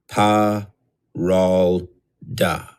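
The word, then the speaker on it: Paralda: Give each syllable equal emphasis. Know that as you use this name, it is like ringing the doorbell of this being. Fire, Jinn. Air, Pa, Ral, Da.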